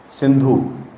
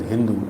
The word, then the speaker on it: Sindhu: of the Indus River synu they used to mispronounce the word synu as Hindu and they used to